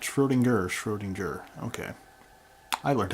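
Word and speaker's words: Schrödinger: in the past shrewd endure not sure leaner Schroedinger okay I learned how to pronounce that all right what about the other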